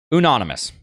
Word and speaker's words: unanimous: It's kind of pronounced anonymous, but with a U. Unanimous.